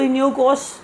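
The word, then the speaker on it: Iniochos: अभी बहुत सारे लोग इनियोकोस की बात कर रहे हैं, तो इनियोकोस मतलब that is हाउ you should pronounce it.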